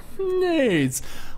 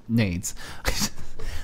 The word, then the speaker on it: NAIDS: NAIDS. Which I like to think as grenades, not what his name is spelled as. So I'm not offensive. NAIDS.